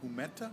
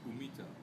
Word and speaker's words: humita: And Markus is going to have the humeta. Is that how we pronounce it? Humita.